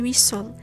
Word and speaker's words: whistle: In castle, wrestle, and whistle, T is silent after the fricative S and before LE.